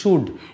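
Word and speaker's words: should: যেমন আমরা এটাকে বলিশ সুড এই এল এর উচ্চারণটা হয় না উড এই উচ্চারণ হয়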